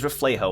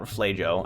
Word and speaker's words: Reflejo: Reflejo, by the way, it is Reflejo and not Reflejo. I was pronouncing it wrong this whole time.